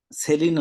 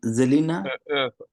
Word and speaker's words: Selina: সেলিনা না, জেলিনা।